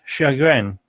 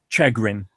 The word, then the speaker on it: chagrin: decades, and that's and it's chagrin, not chagrin. Chagrin. Yeah, it's chagrin.